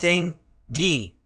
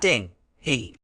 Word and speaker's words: dinghy: be tricky it's pronounced ding G not ding he the G is pronounced as a hard G sound another error is confusing